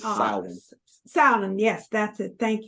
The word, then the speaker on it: Samhain: itself, it began, I forget now what the pronunciation of it is, but it was a Gaelic Samhain. holiday. No. It's Samhain.